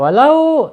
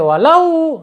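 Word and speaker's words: ولو: Kemudian walau sya, lau ya, sama ya, bacaan lin ya, bacaan miring harus dibaca halus lembut ya, walau, nggak boleh walau ya.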